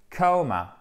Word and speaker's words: coma: Donc tomber dans le comma et ça se prononce non pas comma comme la virgule, mais coma, coma.